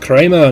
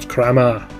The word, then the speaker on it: Kramer: And that man has an umlout over his name, so he's pronounced Kramer, not Kramma.